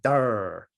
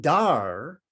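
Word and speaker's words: धृ: The root of the word dharma is dar. So just D-H-R, dar. And dar means to hold, to have or to hold is dar.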